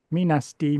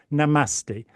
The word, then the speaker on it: namaste: But he was going out going, me nasty, me nasty. Oh, sorry, that's the wrong pronunciation, isn't it? Namaste, namaste.